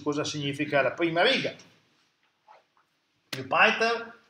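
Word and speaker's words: Jupyter: Jupiter è un progetto molto grande, lo pronuncio come probabilmente la maggior parte degli americani lo pronuncia, se lo pronunciassimo in latino sarebbe una parola che non esiste, ma avesse la I invece della Y, sarebbe Giove, Jupiter.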